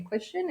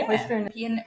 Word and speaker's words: equestrian: Rebel is an Olympian but not just an Olympian but Olympian equestian. Is that how you say it? Equestrian equestrian.